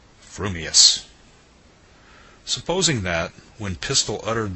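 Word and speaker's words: frumious: your mouth and speak if your thoughts incline ever so little towards fuming then you will say fuming Furious if they turn by even a hair's breath towards Furious you will say Furious fuming but if you have the rarest of gifts a perfectly balanced mind you will say fumus supposing that when pistol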